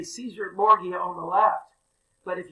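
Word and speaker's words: Cesare Borgia: never mind but that is i would say caesar morgeau on the left but if you ever uh hear the way they pronounce it in italian it's actually pretty cool it's cesare bordeaux and who knows what he really looked like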